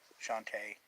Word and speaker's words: Shantae: It's pronounced Sean? Oh, okay. Oh, Shanta, okay. Shantae. I guess that's, oh, T-A-A, Tay.